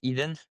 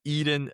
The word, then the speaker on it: Edan: So it it's pronounced like Eden.